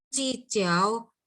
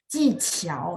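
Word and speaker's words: 技巧: 技巧, jadi kalau saya perhatikan Q itu dia bacanya ada angin. Saya mungkin sebutnya ada angin, artinya ada H-nya gitu ya. 技巧, jadi Q dibaca CH. Kalau misalnya mau pronunciation-nya bagus, memang bahasa Mandarin ada yang kayak gitu ya, ada angin.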